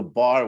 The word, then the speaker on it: bear: this song you know killed a bar when he was only three that was the pronunciation for bear right so it was